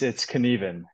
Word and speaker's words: Knueven: It's Knueven.